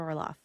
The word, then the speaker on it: Orloff: Orlof. Thank you. I'm so happy to be here. And am I pronouncing that right? Is it Orlof?